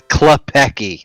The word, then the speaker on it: Klepacki: thing ever frank klepacki if anyone wasn't know how to print out it's a club Peggy that's how he pronounces his name club Peggy and he is an